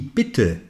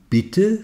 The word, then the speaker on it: Peter: français qui est muet ainsi Peter se prononce en mettant l'accent sur la première syllabe se prononce donc comme